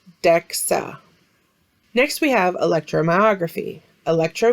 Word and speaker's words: DEXA: the abbreviation dxa dexa is an acronym that is pronounced dexa next we have electromyography